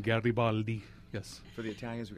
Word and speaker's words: Garibaldi: you here happy to have you it's garabaldi right didn't weon correctly we were just talking about last names and pronunciations that's the correct pronunciation Garibaldi yes for the Italians we got to get